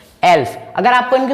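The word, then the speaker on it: elf: एल्फ। एल्फ, एल्फ, एल्फ, एल और एफ यानी कि एल्फ, ठीक है।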